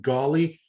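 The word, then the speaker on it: Gauley: of until today they pronounced his name aaron it's spelled e-i-r-e-n last name golly g-a-u-l-e-y he's from ontario right there in canada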